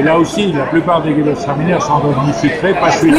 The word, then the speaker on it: Gewürztraminer: Gewürztraminer 2008, ok. Madame, vous le prononcez très bien, compliment.